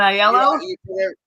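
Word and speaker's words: Aiello: and casting director Carmen aello how do I pronounce it Danny aello Carmen aello you did it right Mr star there you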